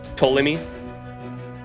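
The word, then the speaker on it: Ptolemy: that toy okay with the p silent toemi yeah he's cool I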